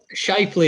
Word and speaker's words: Shifley: Shifley is how I've been told it's pronounced, but.